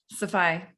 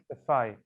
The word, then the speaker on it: Saffaie: Saffaie. Saffaie.